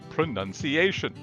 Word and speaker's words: pronunciation: instead they most likely get that noun sound from the verb pronounced to fix this will replace noun with a sound nun let's do some role-playing